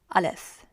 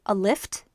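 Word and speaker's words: الف: the first letter is alif Alice it's almost like a lift except just drop the T alif uh less next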